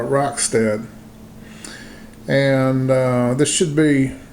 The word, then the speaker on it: Rockstead: the hego i believe i've been told to pronounce it uh roxted and uh this should